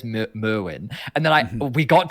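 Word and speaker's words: Myrwn: And I said, "Mewin." He's like, "Okay, cuz Draco says Merwin." And I'm like, "No, he doesn't." And he's like, "Brother, I'm telling you, he says mwin."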